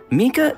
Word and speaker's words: Mika: playable character Landing in version 3.5 how you pronounce his name Mika yes monster okay you guys ready because we